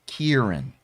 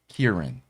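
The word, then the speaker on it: Ciarán: the sea aaron hinz it's kieran kieran i've heard it pronounced different ways okay i believe i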